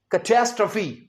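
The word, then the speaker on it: catastrophe: अगला वर्ड है लेकिन इसका प्रोनंसिएशन कई स्टूडेंट्स गलत कर देते हैं। पहले इसके स्पेलिंग बोलता हूं। सी ए टी ए एस टी आर ओ पी एच ई इसे हम कहेंगे कैचेस्ट्रोफी।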